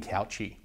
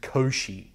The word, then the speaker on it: Cauchy: Guaranteed you're thinking couchy. It's actually pronounced Koshi. So, this is the Koshi transmission equation cuz he's some French guy.